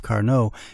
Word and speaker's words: Carnot: the local pronunciation of Carnot is Carnot I guess I'm being a little Frenchified in preferring the French pronunciation anyway what makes Carnivale